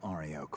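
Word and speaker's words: Arioch: To wipe out Ariok for me. Oh, that's how we pronounce it.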